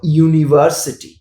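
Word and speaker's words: university: হবে যেখানে ভাওয়েল কনসোনেন্টের মত সাউন্ড করছে যেমন ইউনিভার্সিটি ইউনিভার্সিটি সেখানে ভাওয়েল কিন্তু ইউ দিয়ে শুরু হচ্ছে।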